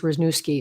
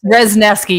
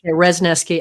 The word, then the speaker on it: Resneski: I want to say her name is Rnooki. Is that the right word? Resneski, you're very close. Resneski.